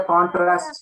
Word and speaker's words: contrast: contrast okay identify the contrasts here here if you have a doubt you will say contrast in his test is on initial next word exactly the